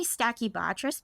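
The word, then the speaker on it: Stachybotrys: always say this where I say stacky Bess but I don't think I'm saying it right is that right yeah yeah that's right okay all right good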